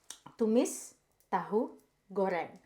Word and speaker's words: Tumis Tahu Terong: stir fry disco and this is how you pronounce it to miss tah gor which literally which literally translated to tofu egg